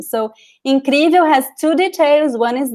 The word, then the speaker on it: incrível: In Brazilian Portuguese words, we do not pronounce the L at the end. We pronounce like an U. So it would be like something like this. Incrível.